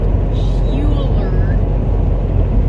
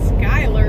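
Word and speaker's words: Schuyler: how you pronounce it i swear it's like hueller but she said you pronounce it skylar nebraska so we picked up in skylar and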